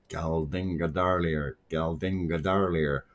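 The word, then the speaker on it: Geldingadalir: I drove all the way out to work, and I said, I have to learn how to say this properly. Galdinga darlier, all day long.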